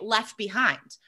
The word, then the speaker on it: left behind: disappear all the time so an example might be left behind now if i'm saying that quickly i would just say left behind i don't even hear